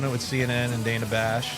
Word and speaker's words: Bash: a metal band yeah Dana Bash D the B she doesn't really look like that though kind of rhymes with gash which is hey if